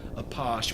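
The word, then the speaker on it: Apache: like the Native American tribe but it is pronounced a posh which is related to the French underground this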